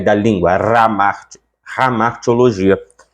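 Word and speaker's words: hamartia: por aí vai e esse H ele tem um som de um R bem gutural ramar teologia R lá da garganta não é o r da língua ramar ramaria é a pronúncia cor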